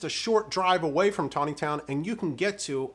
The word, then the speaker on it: Taneytown: Now, Tawny Town is spelled differently than it's pronounced.